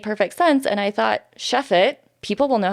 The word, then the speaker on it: Chefate: that it was made up so yeah it's Chef eight but it's shiff it correct yes I'm gonna try and pronounce it correctly okay all right Chef it yes all right cool okay so yeah where'd